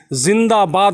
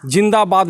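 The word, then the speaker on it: ज़िंदाबाद: इसका उच्चारण होता है जब हम नारा लगाते हैं जिंदाबाद का तो हमको मालूम होता है कि ज के नीचे बिंदु मतलब कि जिंदाबाद होता है जिंदाबाद नहीं होता है तो इस तरीके से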